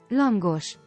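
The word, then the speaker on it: lángos: Langosh. Langush. Yeah, there we go. There we go. It's with the gush at the end. The SH. It's like an invisible H, but it counts. Langosh.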